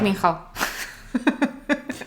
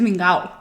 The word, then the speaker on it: Minghao: Después de eso, el único nombre que me sé es Minhao. Por cierto, María me echó la bronca. ¿Por qué? Porque decís Minhao, y es Mingao.